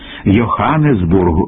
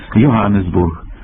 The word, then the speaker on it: Йоганесбург: або холова хрип хлина Отже Ганс Гельмут Гофман йоганесбург тут можлива лише літера г ви